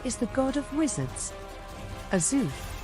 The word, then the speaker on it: Azuth: Azuth, pronounced Azuth, also known as the Lord of Spells and